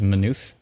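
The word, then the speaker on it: Maynooth: deal with what else is happening here there's manufe now that i know how to pronounce you i feel much more confident can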